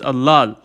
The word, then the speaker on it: ըլլալ: be in armenia in its infinitive form it's allah okay two syllables but interestingly in the